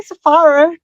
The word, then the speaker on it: Saffaric: Uh, tonight we have on Safaric. Am I pronouncing that right? Is it Safaric? I say Safaric, but I really don't mind how you how you pronounce it.